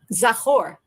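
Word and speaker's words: זכור: That's um the word is um zahor.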